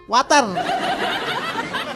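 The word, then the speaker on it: water: কি বেশি দিয়ে ফেলছেন ওয়াটার না এটা ওয়াটার জি স্যার জিহ্বার আগা সামনে দুই দাতের সাথে লাগবে ওয়াটার চিটাং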